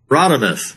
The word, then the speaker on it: Radames: Pronounce it again. Radames.